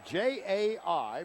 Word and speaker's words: Jai: It's J AI pronounced Jai Lewis.